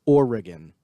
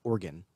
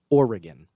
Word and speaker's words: Oregon: American, it is pronounced Oregon, not Oregon and not organ, like a body part inside of you. It's Oregon. Pretend that the E is an I.